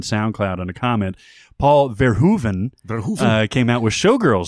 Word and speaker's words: Verhoeven: well I just want the opportunity to properly pronounce this directors name now that we've been corrected on Soundcloud on a comment paul verhoeven who came out with showgirls sorry I'm still gonna save air joven damn it Chris I'm saying they're hoping that's